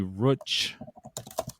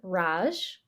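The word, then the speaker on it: Racz: that what you said yeah it would be Roach I'm gonna look it up because we can CZ is pronounced CH in Polish punchki we're gonna listen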